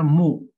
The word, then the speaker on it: mu: Membacanya mu, ya, membacanya adalah mu.